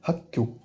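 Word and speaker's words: 학교: Si on a hak avec kyo derrière, on fait la liaison, donc ça fait hakkyo. Donc le double G qui apparaît, le double kyo.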